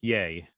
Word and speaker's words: Ye: Pepe David Kanye West it's pronounced yay uh we'll be